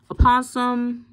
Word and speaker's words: Opossum: Litter Emitter, Raunchy Rodent, Opossum, and so it looks like it's like a possum, but they actually pronounced the O in this case.